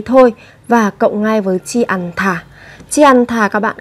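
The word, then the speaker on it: 지 않다: Chi ăn thả mang nghĩa là không. Các bạn lưu ý về cách phát âm, đó là chúng ta sẽ có ở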